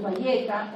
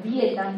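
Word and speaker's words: Byetta: Victoza, por ejemplo, o su Valleta, o Vieta se pronuncia, o algo que yo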